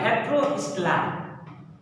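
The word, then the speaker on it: heterostyly: अगला जो एग्जांपल उसका नाम है हेटेरोस्टेलाई। स्पेलिंग थोड़ा गजब का है, हेटेरो STYLY, हेटेरोस्टेलाई।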